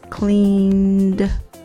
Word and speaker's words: cleaned: The pronunciation of the ed is d. I cleaned the kitchen.